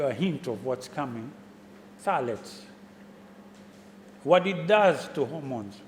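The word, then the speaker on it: phthalates: it's known as Talent it's pth a-l-a-t-e-s salads pronounced salads it's a chemical put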